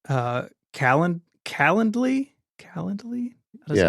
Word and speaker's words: Calendly: I use sometimes is called uh Kal calendly calendly I is how you say it but that's